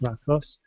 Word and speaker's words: lacrosse: I think lacrosse. It's pronounced lacrosse this with the stress at the end.